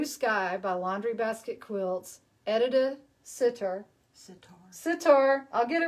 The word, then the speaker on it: Edita Sitar: line of fabric, and I keep saying her name wrong, so I got to say it right. Tell me your name. Edita Sitar.